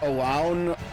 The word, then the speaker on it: Alaune: others say it, and then like her name there, it's like Alaun.